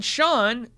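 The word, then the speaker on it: Chaun: And then Sean, who's spelled C-H-A-U-N, wants me to know phonetically it's spelled, pronounced Sean. That's my son's name, S-E-A-N, Sean.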